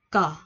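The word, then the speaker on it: ㄱ: Số 1 mình có chữ cờ. Cờ. Cờ. Nó sẽ là chữ nằm giữa chữ K và chữ G. Mình sẽ đọc là cờ.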